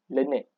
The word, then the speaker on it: learned: Sebab lecturer semua sebut learned tau. Lepas tu kita macam learned? Kenapa lecturer sebut learned? Memang learned. Sebutan dia memang learned.